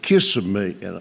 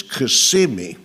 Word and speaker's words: Kissimmee: said, "Look, honey, it's only 50 miles to Kissimmee." And I said, "Honey, it's not pronounced Kiss, it's Kissimmee."